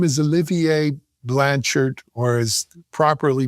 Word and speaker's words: Olivier Blanchard: His name is Olivier Blanchard or as properly pronounced I'll do my best French accent. Olivier Blanchard Blanchard something like that.